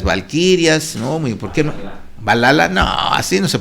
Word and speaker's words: Valhalla: Yo digo que es Valhalla o algo así. Aquí dicen, se dice Valhalla.